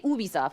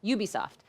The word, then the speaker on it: Ubisoft: I say Ubisoft, but it's not right. Ubisoft.